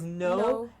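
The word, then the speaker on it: know: making these rules and saying K-N-O-W is no, and N-O is also no. There is no difference in the pronunciation of this word.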